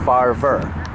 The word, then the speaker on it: Favre: Just like Brett Favre, but Farver.